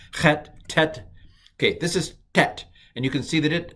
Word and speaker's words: tet: And Hebrew has a ta sound. I'm talking to you. I will not work that hard when I pronounce Hebrew. I'm sorry to say for you, but it's transliterated as a T with a dot under it, and it is ta.